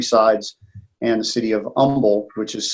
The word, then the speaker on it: Humble: and the city of Humble which is spelled h um ble but we don't pronounce the H on the fourth side